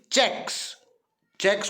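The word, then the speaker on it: cheque: He signed many checks को चीकू बोलते हैं. आप याद रखना, बोलते चेक है, लिखते चीकू है. समझने के लिए उच्चारण में चेक बोलेंगे.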